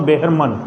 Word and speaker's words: Behrman: उसके बाद है एक अनदर कैरेक्टर जिसका नाम अपने है बेहरमन या मैन कह सकते हो, लेकिन सही देखा जाए तो बेहरमन।